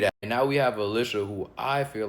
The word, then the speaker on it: Alicia: And yes, I'm pronouncing it Alicia.